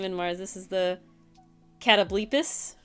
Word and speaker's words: Catoblepus: Cinder says Catoblepus. Catoblepus. That's I how don't it's know.